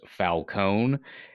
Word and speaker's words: Falcone: no joke here it's the name is traditionally always pronounced Falone Nolan just for some reason decided to make it overly Italian sounding by adding an e at the end where it's Falcone it it would be